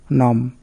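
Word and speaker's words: numb: নম মানে অবশ।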